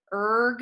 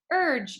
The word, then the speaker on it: urge: Those are all words that have a G in them, that if you were reading this word, erg, it doesn't sound right. You might flip the sound and try the soft G instead. Urge you.